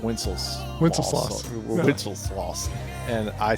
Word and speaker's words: Wenceslas: According to Google, this is how it's pronounced. Wenceslas.